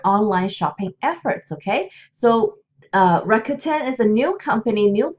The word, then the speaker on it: Rakuten: Rakuten, this is how you pronounce it right here.